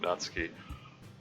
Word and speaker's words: Natsuki: time playing the game I I mentally pronounced naty's name as natsuki um that's yeah I just uh interacting with the fandom got me used to the idea of pronouncing it natski uh some reason uh